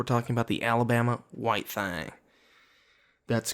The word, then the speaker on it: Thang: about the Alabama white Thang that's correct that is not a Time typo it is not me pronouncing thing funny it is White Fang